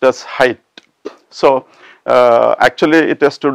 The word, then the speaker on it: Fahrenheit: h-e-i-t is pronounced as height so actually it has to do a lot with the temperature heat thermometer etc but the last part of this word is not heat but height so we will see